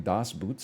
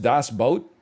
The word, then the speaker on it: Das Boot: o no it's not it's two normal O's that's how you spell boot in German is it just Das boat it's pronounced boat not